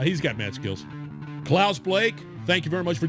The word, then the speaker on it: Blache: Blake is his last name. University of Tennessee. His last name is spelled Blache, but we pronounce it Blake.